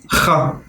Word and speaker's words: خ: خ. It's pronounced farther back at the throat. You should feel a little tickle in your throat.